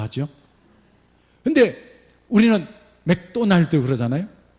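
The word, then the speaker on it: McDonald's: 근데 우리는 맥도날드 그러잖아요. 이 사람들 맥다날드 그러더라. 그래서 오를 무조건 발음하면 되는구나. 오일이 아니라 아일. 맥다날드.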